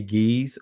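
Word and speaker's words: Ge'ez: and if you understand got eyes which is pronounced today geez or get es someone you know pronounce it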